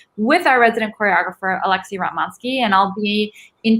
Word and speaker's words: Ratmansky: Rotmansky, that's how you pronounce it.